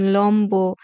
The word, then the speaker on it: লম্ব: এর উচ্চারণ অবিকৃত থাকে যেমন লম্ব সম্বল সাব্বাস তিব্বত এখানে ম এর সাথে ব ফলা আছে আর সে কারণে ব এর উচ্চারণটা অবিকৃত থাকবে অবিকৃত থাকবে মানে চেঞ্জ হবে না ব এর উচ্চারণ ব এর মতোই হবে আরো কিছু কিছু ক্ষেত্রে